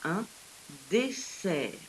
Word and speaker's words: dessert: a deux aces la honte on peut les prononcer et là le mot que nous avons c'est un dessert ceci dit dans une phrase c'est assez évident